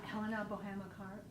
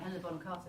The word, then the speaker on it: Helena Bonham Carter: Helena Boham Carter, is that how you say her name? I will take that. That's very kind. Helena Bonham Carter, that would be Yes.